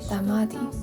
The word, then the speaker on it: tamati: Speaking of tomatoes, did you know that all the Macanese generation actually call them tamati? It's believed to have evolved from the Portuguese pronunciation of tomate.